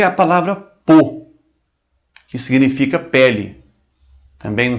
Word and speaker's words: peau: A U é um som muito fácil, pronuncia-se como O. Um O fechado, né? O.